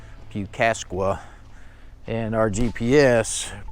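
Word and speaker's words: Pukaskwa: were correct it is puasa I verified that with the person who took our money and with the pamphlet showing the exact pronunciation the second K is silent anyway so that's number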